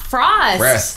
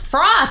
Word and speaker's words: froth: want to say Frost it's not Frost it's froth it's like the creamy